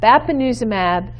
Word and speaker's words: bapineuzumab: promising and they are a mouthful let me pronounce these for you so under drugs i have bapineuzumab so lanuza mab kryn uzum ab and Gant